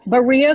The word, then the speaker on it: Berea: for Women at, how do you say it, Berea College? Berea College in Berea, Kentucky.